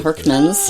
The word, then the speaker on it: Hurkmans: We're talking Herkman's. Am I pronouncing that correctly? Yes. The S is at the end. It's a Dutch name. Herkman's.